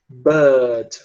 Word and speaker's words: bird: Ele vai pronunciar bird.